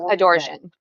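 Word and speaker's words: Adorján: So Adorjan. Oh, that sounds better, actually. That almost sounds like adorable.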